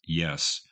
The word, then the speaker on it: Ys: her best known album spelled Ys but pronounced yes and this seemed to